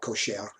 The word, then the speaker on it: kosher: talking about kosher kosher in hebrew the emphasis is always on the last syllable if i would pronounce this properly it wouldn't be kosher it would be it'd be more like kosher any of that kosher